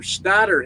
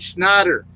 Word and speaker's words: Schneider: Goddamn, some Schneider hate. Schneider. You got to say it right. Schneider. You got to do it the right way.